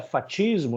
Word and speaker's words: fascismo: Isso aí vem do latim fatio, por isso tem muita gente que pronuncia fatismo, né? O pessoal que o historiador mais raiz, ele gosta de falar o fatismo, né?